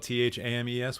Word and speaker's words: Thames: be a very good host oh the River Thames right right right there's a baseball player called Eric tames which is spelled t-h-a-m-e-s which is why why I pronounce it tames